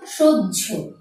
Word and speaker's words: সহ্য: যেমন আমি একটি শব্দ এবং তার উচ্চারণ লিখে দিয়েছি সহ্য। আমরা প্রথমে দেখতে পাচ্ছি উচ্চারণটি হয়েছে বর্গীয় জয়ের মতো, পরবর্তীতে ঝয়ের মতো হয়েছে।